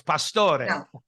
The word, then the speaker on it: Pastore: you guys I know a lot of people say yo well it's Pastor no it's Pastore Pastore yes Theresa welcome back our